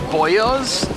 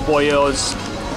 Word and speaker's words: Boyoz: quick google search um boyos boyos i think that's how it's pronounced is particularly famous in